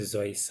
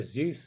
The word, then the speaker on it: Seuss: I've only just learned how to pronounce Dr Seuss. I always pronounced it Dr Seuss as a child, but I've learned it's Seuss.